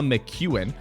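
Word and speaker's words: McKeon: Emma Mchuan, which is a name that I have butchered in the past and I apologize for doing so. It is Emma Mchuan. It's like the letter Q.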